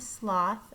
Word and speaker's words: sloth: So there's a sloth in the understory. It rhymes with moth.